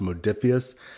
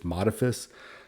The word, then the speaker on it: Modiphius: a head honcho for modiphius and it is pronounced modiphius I've seen some people or hurt some people say in videos it's modifis I confirmed from Chris Burch it is modiphius